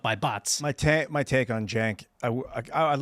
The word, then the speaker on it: Cenk: Cenk.